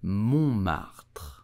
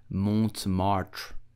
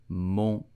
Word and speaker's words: Montmartre: You will say Montmartre. Montmartre. Please do not pronounce it Montmartre. It's totally wrong. Please do Montmartre.